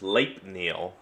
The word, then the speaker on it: Sleipnir: Oh, I've heard it pronounced Sleipnir.